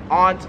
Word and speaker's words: aunt: And similar to anti, we have aunt or aunt. So, Americans say it both ways, but I've always said it aunt, like your aunt and uncle. But there are some people in America who pronounce it aunt. Here in Australia, everyone pronounces it, or at least everyone I've met has pronounced it aunt, which honestly kind of